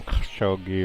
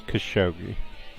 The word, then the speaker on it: Khashoggi: how Americans pretend like they know how to pronounce somebody's names sure an Arab might call them Jogi or whatever but in English it's Khashoggi I mean I actually lived with these people